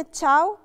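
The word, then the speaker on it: ciao: كل الناس عارفاها كلمه تشاو لو ركزنا في كلمه تشاو هي فيها ايه بعد لا العطر بس ما بتتنطقش بننطق على طول الاعلى بنقولها تشاو علشان القاعده دي علشان في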